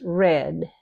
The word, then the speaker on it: read: Now, read and read look the same, but they're pronounced differently. Read is in the present. Read is in the past. Either one of the past is read, like the color red.